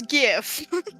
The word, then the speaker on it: GIF: Graphic with a hard G. It's GIF.